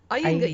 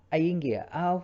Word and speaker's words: Iyengar: Did I pronounce Nearly. correctly? Iyengar Iyengar. yoga. Iyengar yoga.